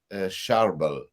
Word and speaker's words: Charbel: my hands up who I was uh saint charbel am I saying it correctly no it is